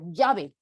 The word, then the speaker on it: llave: dicen leve llama Llévate esto es como una l con una y pequeñita y ligera que es el sonido característico y correcto de la doble l pero aquí en Lima